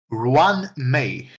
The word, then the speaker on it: Ruan Mei: Now, as I said before, can you help me pronounce her name again? Ruan Mei.